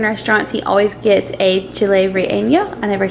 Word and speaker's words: Chile Relleno: Whenever we go to Mexican restaurants, he always gets a Chile Relleno. I never say it right. Say it? That was right, Chile Relleno.